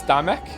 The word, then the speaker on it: Damek: Is the L silent? It's Damek. Damek. Like we're Scottish.